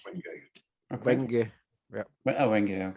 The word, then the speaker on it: Wenge: Most of the bows I made in the past couple of years have had the Wenge. It's spelled WGNGE, but pronounced Wenge.